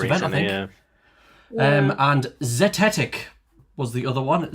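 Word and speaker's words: zetetic: Um, and zetic was the other one.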